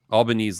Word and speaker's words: Albanese: the comments recently and I blew my mind albanes like Lebanese yep yeah is there a Mr Albanese is it a family name yeah so uh there's uh Scott and uh Scott albanes so he's the one who uh started the